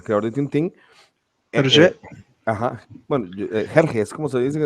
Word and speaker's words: Hergé: Ajá, bueno, Hergé es como se dice en español, si no me equivoco.